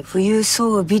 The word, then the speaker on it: 冬薔薇: 冬にバラって書いて冬装備って読むんだって。